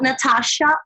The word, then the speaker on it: Nathasha: you can just bolt Natasha remember there's a silent H after the tea and you can find